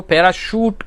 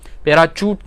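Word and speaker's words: parachute: उसकी भी स्पेलिंग देखें तो उसमें भी CH आता है, लेकिन वो पैराशूट कहते हैं, पैराचूट नहीं कहते हैं।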